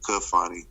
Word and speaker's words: Kafani: It's spelled it's actually spelled Khalfani, and so I ended up taking the H and the L off and coming with Kafani with a pronunciation, because that's what that's how it sounded, and it meant destined rule.